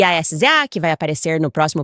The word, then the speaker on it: SZA: ela olhou para mim, Mia, e disse: "É sza". E eu falei: "Não é assim que se escreve tesoura".